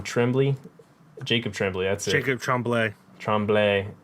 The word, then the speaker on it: Tremblay: Jacob Tremblay. That's it. Jacob Tremblay. Tremblay. Yeah. It's spelled Tremblay, but because it's French, it's pronounced Tremblay.